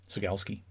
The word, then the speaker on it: Cegielski: Cegielski is what we all called him. And of course, as time has gone on, I've thought, that can't be right. His name surely is something along the lines of Cegielski. So I asked him, Sigelski.